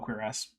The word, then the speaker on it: cuirass: Like, it's from French, so it probably should have the accent on the last syllable, but then again, it's been in English for long enough that, like, whatever. So yeah, you can call it queer-ass.